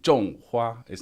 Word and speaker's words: 种花: 种花is not 种. So it's a 多音字. It's a character that's got a couple of different pronunciations and people often pronounce it incorrectly.